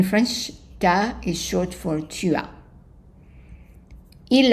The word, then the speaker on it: tu as: And then for tu as, so we said that tu as, when you have a U followed by a vowel, there's a pronunciation of a Y in there, tu as.